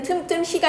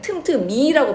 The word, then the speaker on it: 틈틈이: 틈틈이는 틈틈히가 아니고 우리 틈틈이라고 발음하잖아. 이제 미음이 그대로 연음이 되니까 히 발음이 안 난다고 봐야 돼.